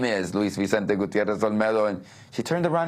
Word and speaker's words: Gutiérrez: the age of 15 about how people uh pronounce my name um but now it became important and so I said lisis gutterz and everybody in the classroom started laughing my